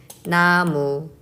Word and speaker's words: 나무: 나무. So it's kind of like N-A-M-O-O.